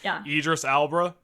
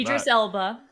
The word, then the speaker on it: Idris Elba: Idris Albra uh Al, I completely butchered that. Idris Elba. Yeah, sorry guys, illiterate. Uh was the chief uh obviously, which is cool.